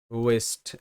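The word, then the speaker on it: waste: একইভাবে ওয়েস্ট, ডাব্লিউ এ এস টি ই ওয়েস্ট, ওয়েস্ট। সো এখানে কিন্তু ডাব্লিউ এ ওয়ে সাউন্ড হবে, ডাব্লিউতে ও sound, ওকে। ওয়ে এস্তে ওয়েস্ট, টিতে ট ওয়েস্ট, শব্দের শেষে ই সাইলেন্ট।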